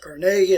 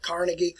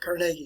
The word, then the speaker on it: Carnegie: All right, the name is pronounced Carnegie. A lot of people say Carnegie, but Carnegie is actually the better pronunciation.